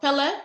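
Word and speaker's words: Kpelle: So Pele is the name of my tribe. I know y'all see a K there, K-P-E-L-L-E. I know y'all see a K there, but the K is silent.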